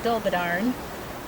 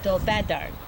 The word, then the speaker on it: Dolbadarn: In Welsh, just for your information, the emphasis is usually on the second to the last syllable. So in English, I would say dobadarn and they still say dolbad.